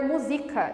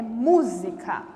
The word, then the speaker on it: música: língua portuguesa São paroxítonas aí se não tiver acento eu vou ler musica e não é música é música música então não pode esquecer